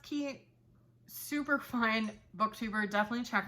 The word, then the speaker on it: Ki: It's Books and K-I. So I think it's pronounced Key.